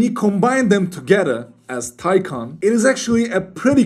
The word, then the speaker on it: Taycan: Actually, the correct way of pronouncing the Kan part of the name is actually Can, not Taycan. It's Taycan in Turkish.